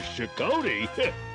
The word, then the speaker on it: Shokoti: Wait, don't tell me you're still scared of Shokoti.